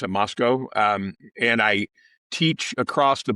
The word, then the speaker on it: Moscow: I live in a little town called Moscow. People pronounce it Moscow, and I teach across the border at Washington